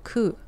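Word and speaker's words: 九: Number 9 and the word pain also share pronunciation ku.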